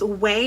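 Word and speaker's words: Ouai: And then next I got this right here is from, I think it's Way is how you pronounce it.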